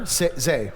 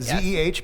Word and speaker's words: Zeh: The Reverend Zeh, pronounced she, her, Zeh, right? Zeh, Z-E-H, but Zeh, is an ordained Baptist minister and the chief executive officer of the Religious Coalition for Reproductive Choice.